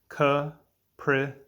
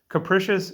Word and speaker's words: capricious: word of the day is capricious three syllables capricious capricious is an adjective it